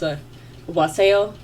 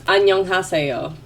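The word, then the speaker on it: 안녕하세요: It's a waseo. No. It's annyeonghaseyo.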